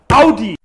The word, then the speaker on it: Audi: So many people say Audi when it's actually pronounced Audi. Audi. I was driving in my Audi. Never buying an Audi and not interested in Audi.